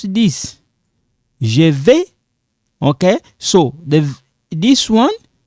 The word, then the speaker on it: je vais: Now, we don't pronounce this. Je vais.